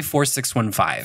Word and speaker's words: 4615: And you mentioned your theater company, 46, is it, how do I pronounce 4615? We say 4615.